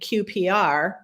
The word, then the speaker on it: QPR: persuade refer is abbreviated QPR which rhymes with CPR and you know you